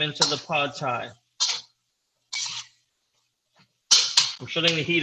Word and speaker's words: Pad: i believe it's spelled p-a-d and there wasn't why it's p oh it's not pronounced pad it's pronounced pod pad okay you put